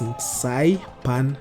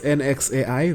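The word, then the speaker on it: Nxai Pan: That's Nsai Pan National Park. I don't know if I pronounced that or I butchered it. It's Nxai, then Pan as in frying pan, or Saipan National Park in Botswana.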